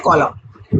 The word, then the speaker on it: column: तो उसको बोलते हैं कॉलम। कॉलम का स्पेलिंग ध्यान देंगे, COLUMN है। ये N जो है वो साइलेंट रहेगा, प्रोनाउंस नहीं करेंगे इसको।